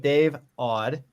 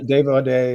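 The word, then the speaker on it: Audé: Great session with Dave Odd, and you mentioned that before, right, Jim? Yeah, Dave O'Day, there's a Grammy-winning remixer producer who also played. Excuse me. Yeah, there's the accent on the end.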